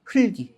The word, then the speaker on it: 흙이: 흑기가 아니라 흘기 그죠?